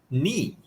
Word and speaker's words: knee: She said knee. Knee. Oh, yes, Jimena. Very good. You're very smart. Knee. Yeah. With K, but the K is not pronounced.